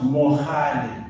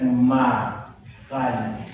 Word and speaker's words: Mohali: They couldn't pronounce Mohali, they said Mahali.